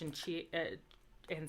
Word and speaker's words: hai: And then to say you have, it's spelled HAI, but it's pronounced like A.